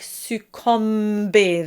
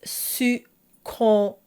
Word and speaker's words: succomber: And this is a great example of people maybe accidentally voicing the m. And this happens because it's followed by a b. The b is The lips are closed and it sort of drags the M and people will often make this mistake succombent. They'll anticipate the M which should absolutely not be voiced. It's succombent. But it's such an easy mistake to make.